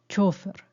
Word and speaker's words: chófer: estos pero son mínimos podemos escribir nos llevó el chófer o nos llevó el chofer depende de la pronunciación si es aguda chofer o yana chofer pero sobre todo siempre